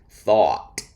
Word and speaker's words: thought: Many words end with OUGHT, and they are almost all pronounced with an aw sound, just like when something is cute. Aw. Thought, past tense of think.